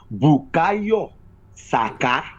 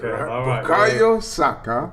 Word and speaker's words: Bukayo Saka: And lastly, please, I want to give you the right pronunciation of Bukayo. It is not. Please, you need to call it like he's from my hometown, so you call him properly. I know it's English, but the real pronunciation of his name is Bukayo Saka. Right. Bukayo Saka. Bukayo Saka. Yeah. Yes, the falling and rising tone.